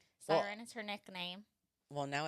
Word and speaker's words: Syren: somebody how do you introduce yourself usually a siren a siren okay siren it is Sarat her last her god-given last name siren is her nickname well now it is